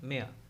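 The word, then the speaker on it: mare: Horse का मेया, इसको क्या प्रोनाउंसिएट करोगे, मरे नहीं, मेया।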